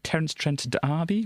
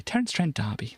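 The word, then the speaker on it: Terence Trent D'Arby: that band there uh Terren Trent Derby where she kissed me I should probably probably shouldn't I should probably should say his name properly Terence Trent Derby there we go it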